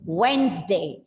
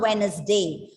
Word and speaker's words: Wednesday: But in actual, there are only 2 syllables because the D in between is going silent there.